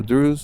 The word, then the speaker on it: Druze: druid a druid that a druze a Drews is that how you say it he said yeah yeah Madam I'm a